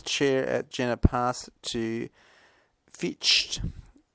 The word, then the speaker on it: Fichte: In 1794, his chair at Jena passed to Fichte, Fichte, Fichte, otherwise the Germans pronounce the E at the end of it, who had visited the